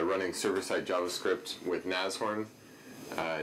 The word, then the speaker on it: Nashorn: talk about uh running server sight JavaScript with nasorn uh nasorn is the correct pronunciation of the word um uh nasorn is